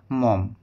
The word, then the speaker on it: Maugham: বাই ডব্লিউ সমার সেট মম উচ্চারণটি ভালো করে দেখে নাও এম এ ইউ জি এইচ এম উচ্চারণটি হচ্ছে মম তো এই হচ্ছে মমের